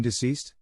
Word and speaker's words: deceased: very long time ago as day kissed on a legal document i stared her like she had three heads you mean deceased deceased street she glared